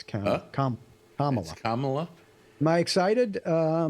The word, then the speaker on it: Kamala: Kamala. Like mama but with a K.